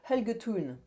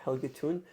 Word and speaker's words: Helge Thun: Helge Thun? If you could put us in touch, I would gladly interview him. It's HELGE, then Thun, THUNN. Okay. Helge Thun. Like a tune, okay.